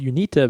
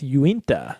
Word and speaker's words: Uinta: Yeah, when I first saw it, I first read it as Unita, but you're right, it's Uinta.